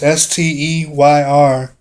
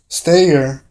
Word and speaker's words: Steyr: On the other hand, Steyr, I can't really pronounce their name. It's Steyr, Steyr, which is another company,